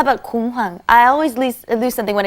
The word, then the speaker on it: 공항: 공항에서 what is the word for 지갑. 지갑. 지갑을 잃어버린 적이 있어. Right, and be careful with 공항 too. The pronunciation is 공항. 공항.